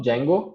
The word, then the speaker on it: Django: लोग इसको Django बोलते हैं, but D is silent. So Django is one of the framework which is helping us to create a web application.